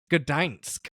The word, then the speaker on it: Gdańsk: So like maybe the Oh, Anglican wait, I pronunciation just had is it. just Gdansk. It's Gdańsk.